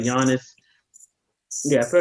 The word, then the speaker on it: Giannis: He probably not, but No, Is it pronounced Giannis or is it pronounced Giannis? Giannis.